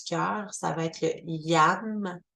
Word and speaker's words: YAM: Le chakra du cœur, ça va être le YAM, Y-A-M, YAM.